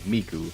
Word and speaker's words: Miku: But apparently it's a reference to an old pun where the Japanese words for 3 and 9 can be pronounced as mi and ku respectively, miku, which is pretty neat.